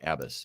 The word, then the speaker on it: Abbas: just early in this adventure right um it's abbis did I say abis I can't remember now if I mispronounced your name abis yes abis abis that's ABB 12 more no but no thank